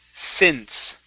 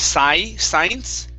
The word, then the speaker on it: since: word for you it's since okay instead of psy science it's a short i sound since since okay all right very good